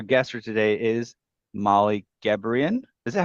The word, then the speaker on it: Gebrian: Our guest for today is Molly Gebrian. Is that how you say it? Is that how you It like to is, pronounce it?